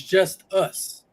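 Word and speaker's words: Justus: I was gonna say justice Boone we're pronouncing his name wrong it's not Justice it's just us they had him Paul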